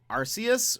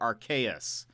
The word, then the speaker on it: Arceus: say Arceus our our Arceus or archaeus uh supposedly I've been well so I've been saying Arceus because in Japanese the announcer guy says RCs um so I think